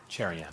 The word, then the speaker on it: Cherian: I say your name sherion yes did I say that right yes I love your name you have to say it properly though cherion cherion right yes well Robin do